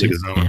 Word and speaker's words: Leguizamo: Theron, John Bernthal, Ryan Hurst, John, I can't pronounce his last name, Leguizamo. That's Leguizamo.